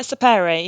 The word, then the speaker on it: Sapere: How do I pronounce it? Yeah, Sapere.